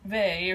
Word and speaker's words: Weil: also a Marjorie camp Simone vey or Simone Weil as you might read it if you were taking the Anglo proportion of pronunciation here see this is all